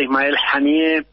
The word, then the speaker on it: Ismail: dominación de los pueblos Ismael al matar a Ismael así se pronuncia no solamente han matado al líder de